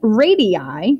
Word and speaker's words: radii: So two radii, that's how you say it, there's more than one.